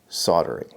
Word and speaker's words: soldering: English because I'm actually from the border it's pronounced soldering if you have a problem with that you